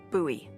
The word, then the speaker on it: Bowie: out this huge Rusty Bowie knife it's actually pronounced buoy what no it's like the last name like